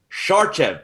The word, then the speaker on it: Sarcev: uh old school brethren milos shar chef that's how you pronounce it right that's how you do